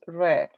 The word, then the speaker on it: read: book i read okay we write it the same but we pronounce red i read a book